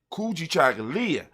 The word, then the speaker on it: Kujichagulia: for ourselves and self-determination kuji chagalya when you say it properly kuji chocolate and just let